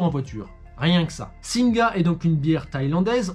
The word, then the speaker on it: Singha: ne prononce pas singa messing car la dr syllabes et muette en thaïlandais dernier détail sur singh lorsqu'on l'on va sur leur site la première